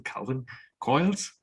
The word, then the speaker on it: Calvin Coyles: Today, my guest, all the way in Perth, Australia, please welcome Calvin Coyles. Is that the way I pronounce?